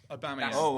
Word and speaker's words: Aubameyang: Yeah, Aubameyang. I pronounced it right.